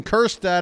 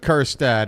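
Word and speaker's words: Kjerstad: what we like with kirad as he swings and misses on a pitch in the dirt I mean his name is silent J after all Curtis quiet is what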